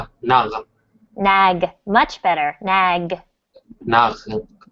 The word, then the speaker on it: Nag: Okay, so again, when I hear you say nag, it sounds like nach. So Nach. you really want to nag, g. Nag, G. Try to make this sound g. nag, Nag.